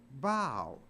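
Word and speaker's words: bough: o u g but it's not pronounced buff it's pronounced bow so even though a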